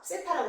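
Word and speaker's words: θ: 세타라고 씁니다.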